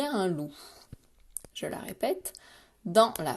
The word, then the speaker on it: loup: Donc le mot de la tortue, facile, et loup, eh bien, une syllabe, loup, je fais chanter. Par contre, j'observe qu'il y a la lettre P qui est muette.